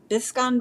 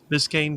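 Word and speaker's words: Biscayne: it was a Biscan I forget how you say it. Biscan Bay. Biscane Bay. Biscane Bay. Yeah.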